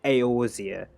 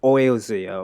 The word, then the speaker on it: Eorzea: Like when the beginning of Final Fantasy, he pronounced the Aorzia, so that's why I pronounced it. I would have pronounced it easier or something like that, or Oilzia, or like I don't even know.